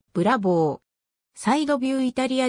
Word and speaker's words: Bravo: たランボルギーニ名義のコンセプトカーである発音はブラボーサイドビューイタリアでのブラボーラッコの